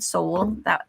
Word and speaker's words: Sowell: It really does mean soul, but Soul, that's my maiden name, Soul. How was it spelled? It's spelled Sowell, but it is derived from the Hebrew soul, breath of life.